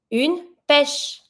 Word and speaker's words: pêche: A peach, une pêche.